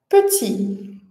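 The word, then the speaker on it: petit: que é uma vogal, e a consoante final t, ela é muda, né?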